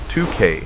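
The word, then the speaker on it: toque: lined with dense wool and built to withstand the worst blizzards and woolen hats the Canadians called touques pronounced 2K designed to pull down over the ears.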